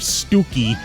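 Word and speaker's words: Stiffkey: the English Village of that's how I learned that the English Village of stooky is spelled s t i f k e y yeah that's old English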